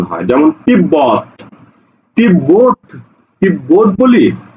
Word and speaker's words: তিব্বত: বটা উচ্চারণ হয় যেমন তিব্বত তিব্বত তিব্বত বলি না তিব্বত বলি না বলি কি তিব্বত তিব্বত ঠিক আছে দেখো এই জায়গাতে ব ফলের উচ্চারণ হচ্ছে সাব্বাস দেখো তালব্য স